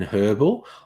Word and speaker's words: herbal: __ ] when uh Americans aggressively don't pronounce the h in herbal like they pronounce the